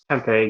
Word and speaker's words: Tempe: I pronounced that correctly. Yeah. No, that's Tempe.